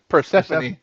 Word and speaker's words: Persephone: when's Per, Perse- Persephone.